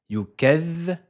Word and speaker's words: يكذب: Et ici, on retrouve la lettre vel avec une shadda au-dessus d'elle. C'est pour signaler qu'il faudra la dédoubler. Faites bien attention, on va la prononcer deux fois. Yukadhvi. La première fois, on va la prononcer soukoun sans voyelle et la deuxième fois avec la voyelle, avec le son i.